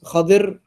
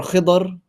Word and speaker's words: Khidr: That was Khadir or Khidr, it's another way of pronouncing it.